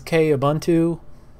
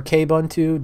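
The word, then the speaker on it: Kubuntu: Windows so this is K auntu or kbuntu depending on how you want to pronounce it I always like experimenting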